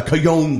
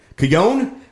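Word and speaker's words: cajón: always say that wrong cuion make sense why you say that though because it's spelled like the j right yeah okay so see i've been spelling it wrong because i pronounce it cajon so i spell it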